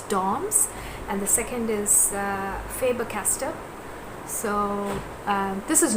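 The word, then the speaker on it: Faber-Castell: called dom as dorms and the second is faber caster so um this is not a sponsored video by the way i'm just doing it out of my interest faber castell is spelled as fabr hyphen c a s t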